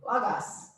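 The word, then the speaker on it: λόγος: Logos. Logos. So pronounce like Logos.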